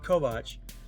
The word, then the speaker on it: Kovacs: That's like in the future, and Takashi Kovacs, and that's pronounced correctly because the author made a point of that.